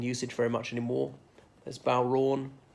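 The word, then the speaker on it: bodhrán: very much anymore as bow wrong as in that's a special musical instruments okay it's got um a D H in the middle so a lot of people who are not Irish pronounce it bought her an well how are they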